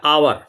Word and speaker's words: hour: इसीलिए रुका हूं, क्योंकि HOUR को अगर आपने हावर पढ़ दिया, तो जब आपने हावर पढ़ा तो आपके हिसाब से आ सही है, लेकिन इन एक्चुअल सेंस में इसका प्रोनाउंसिएशन होता है आवर, यानी वॉवेल साउंड।